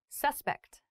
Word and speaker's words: suspect: Suspect and suspect have different pronunciations, despite the same spelling.